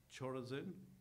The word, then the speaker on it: Chorazin: You know, if the works had been done there in Tyre and Sidon that were done here in Chorazin, I said it right, okay, and in Bethsaida,